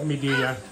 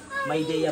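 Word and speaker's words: Midea: Paano pronunciation yan? Medea? Maydea po.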